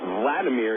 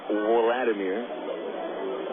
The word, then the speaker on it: Wladimir: two strikes on Valentin Vladimir is his name but it's spelled with a w WL a you don't call him Wladimir it's a one-w count